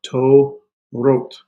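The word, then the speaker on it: תורות: This is a th sound, right? There's a soft. There's no doggish in the here. So this is to, wrote.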